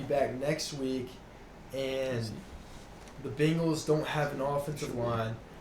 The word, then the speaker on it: Bengals: okay against the bengals you also can't forget about my boy algeria snead wait so wait wait so just real quick how do you say bangles bangles what what is this bingles you say